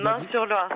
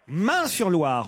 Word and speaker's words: Meung-sur-Loire: Meung-sur-Loire, c'est juste à côté d'Orléans. Meung-sur-Loire, on doit prononcer, c'est ça? Oui, tout à fait.